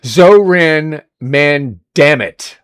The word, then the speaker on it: Zohran Mamdani: How do you say his name? Oh my God. Zohran Mamdani. That's how his name is said.